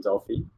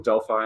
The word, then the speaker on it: Delphi: i bought that in delfi or delphi as the americans say and um i had